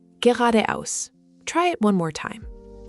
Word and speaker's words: geradeaus: And finally, straight ahead is geradeaus. This one looks long, but it's pronounced quite smoothly. Geradeaus. The emphasis is on the second syllable.